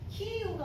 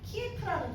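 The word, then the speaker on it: Київ: 키우가 어디지라고 생각하시는 분들 계실 텐데요. 키에프라는 도시 아시죠? 우크라이나의 수도입니다. 예전에는 러시아식 표기인 티프를 많이 사용했지만 최근에는 우크라이나어 발음에 가까운 키우라는 이름을 사용하고 있습니다.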